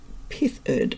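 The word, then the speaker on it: pithered: Okay, the final word of John Koenig's is an adjective, pithed, P-I-T-H-E-R-E-D, pithed, yeah, pither, which is to dig lightly, pronounced pithed.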